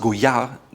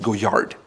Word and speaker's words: Goyard: Another really great brand is Goyard. It's pronounced Goyard without the D at the end. It's not Goyard.